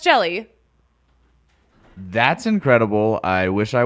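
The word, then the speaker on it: Hjelle: reliever his name is it's spelled h-j-e-l-l-e it's pronounced jelly that's incredible I wish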